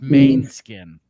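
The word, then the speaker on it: Måneskin: Because it's pronounced main skin. Oh, like Maine Coon? It's Yes. not Manskin.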